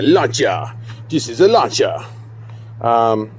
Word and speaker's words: Lancia: like a bmw um except it's la cha and you have to say it like that luncha this is the launcher